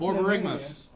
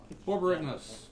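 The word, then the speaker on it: Borborygmos: No, it's Borborygmus. Borborygmus.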